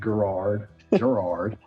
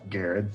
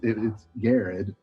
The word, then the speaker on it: Garrard: iran it could be gerard gerard um a lot of times people know that it's pronounced garrett so they leave that last r out of there as someone who has